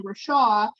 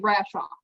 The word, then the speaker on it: Rashaw: the time so then if i say rashaw i'll spell it out really like slow because they'll say rashov or something crazy or they used to call me all the time and it was not it was